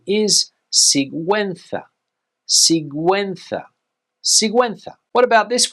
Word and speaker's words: Sigüenza: Well, in Spain, the pronunciation is Sigüenza.